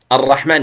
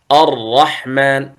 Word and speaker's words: الرحمن: بعضهم يقول الرحمن، يقول الرحمن الرحمن، تنظرون عدة راءات، لكن الصحيح الرحمن، يعني خف التكرير، يعني لا تجعله يضطرب أكثر حتى تكون راءات متعددة.